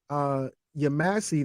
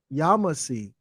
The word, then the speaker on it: Yamasee: I was pronouncing it Yamasee. That's the way I've heard it. But it's actually Yamasee, because Ya is really, or later becomes Ja. And the Masi is the but same.